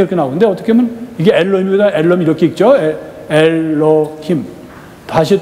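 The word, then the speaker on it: אלוהים: 또 성경에 이렇게 나오는데 어떻게 보면 이게 엘로힘이다. 엘로힘 이렇게 읽죠. 엘로힘. 다시 또 이거는 여기 아도나이에서 야훼죠. 옛날에는 이걸 발음을 잡아서 여호와라는데 지금 학자들이 얻은 그 결론은 야훼가 맞다 그래서 가톨릭이 제대로 발음하고 있는 거예요.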